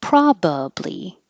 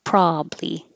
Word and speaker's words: probably: And this one, you have two options, but the stress doesn't move. You can say probably. One, two, three, probably. Or you can drop the middle "ba" and just have two syllables, probably.